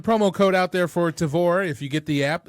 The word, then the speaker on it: Tavour: So there is a promo code out there for Tavor if you get the app. Again, it is spelled TAVOUR. There is a promo code ROBEAR, ROBEAR.